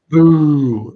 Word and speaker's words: Mbu: Mbu, I always pronounce his name wrong. The offensive lineman, Mbu, is that how you pronounce it? I'm sorry. Boo, like Yes. Halloween. Boo. Yes.